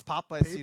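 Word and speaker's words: Paapa Essiedu: It's Papa Isidu. Papa? That's how I Okay, pronounce it.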